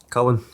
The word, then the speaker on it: Culann: Anyway, this week's guest are, and how do you say, is it Culann? Culann.